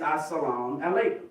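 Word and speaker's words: السلام عليكم: It's Assalamu alaikum.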